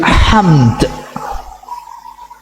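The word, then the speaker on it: حمد: Just like when we say in Arabic in waqaf, walillahil hamd. Dal, mim and dal, we say it all. Walillahil hamd. Hamd. Two consonant. We should pronounce all. We should say all.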